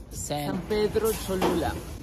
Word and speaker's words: San Pedro Cholula: San Pedro Cholula.